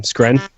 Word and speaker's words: Skrein: Skren.